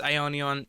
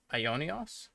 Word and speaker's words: Ionios: So The Japanese even says Ionion in the Japanese trailer, but for some reason the English trailer, they're pronouncing it Ionios. It's kind of like Bionis or Mechonis.